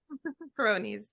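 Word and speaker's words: Peyronie's: Peronis.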